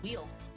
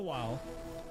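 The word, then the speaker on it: Wily: Wild while not WY pronounced it wheel. Nope, it's actually pronounced while because in the Japanese his name is Dr.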